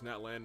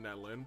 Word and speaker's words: Natlan: Also, why does he pronounce Natlan Natlin?